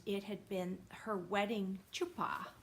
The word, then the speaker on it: chuppah: And it had been her wedding chuppah, I think is how you say it, chuppah.